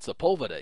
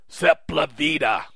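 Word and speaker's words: Sepúlveda: But the actual pronunciation is not Sepulveda, is it? No. What is the actual pronunciation then, sir? Sepulveda. Sepulveda? That's correct. Look at the word. It's not an English word.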